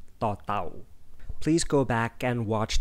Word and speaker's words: ต: It has an equivalent sound in English, which is the English T when you pronounce the word star. Or if you speak Mandarin Chinese, it is the same as the in the word ta.